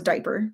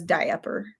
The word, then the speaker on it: diaper: one time they're like why does she say diaper and i'm like i get that like that's how it's spelled but no one says it like everyone says diaper like you can just pretend that a is not even there but she doesn't she says die upper and no um can